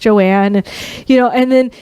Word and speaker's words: Joanne: It looks like it's spelled Joan." And she says, "Oh, I'm from the Caribbean. That's why it's pronounced Joanne."